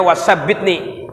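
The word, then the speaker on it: wa thabbitni: Wasabbitni, ya bacanya wasabbitni.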